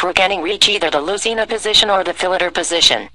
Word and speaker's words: Lucena: The Lucena position, pronounced Lucena in Castilian Spanish, is one of the most famous and important positions in chess endgame theory.